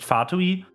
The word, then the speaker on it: Fatui: mean even even uh fatui which is supposed to be pronounced fatui is Roman Latin like it is Latin so it has connections